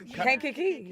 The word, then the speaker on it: Kankakee: They make y'all pronounce that? It's Kankakee.